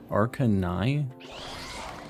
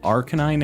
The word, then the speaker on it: Arcanine: Arcanine? It's not Arcanine. It's like canine, like a tooth or a dog.